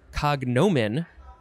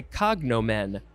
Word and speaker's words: cognomen: Next is cognomen, or you can emphasize the first syllable and say cognomen.